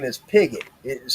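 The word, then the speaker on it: Pigott: My last name is Pigot. It is spelled P I G O T T.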